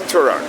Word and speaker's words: Turok: Or what is it? Torque? I forgot how to say it. Turok? Oh yeah, it's Turok.